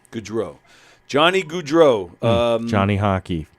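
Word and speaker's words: Gaudreau: world how do you say his last name goodro goodro Johnny goodro um Johnny hockey yeah I was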